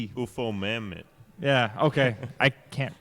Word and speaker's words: Ufomammut: And then Ufomut. What? What? It's UFOMAMMUT. UFO Mammoth.